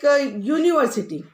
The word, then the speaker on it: university: And for an, one thing is there important, that university. When you are pronouncing university, the sound is u.